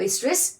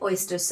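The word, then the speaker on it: oestrus: और इनमें आपका जो साइक्लिक चेंजेस आते हैं वो एस्ट्रस साइकिल, ओके और एस्ट्रस साइकिल भी आप इसको बोल सकते हो, where O is silent. Okay एस्ट्रस cycle या फिर ओएस्ट्रस साइकिल।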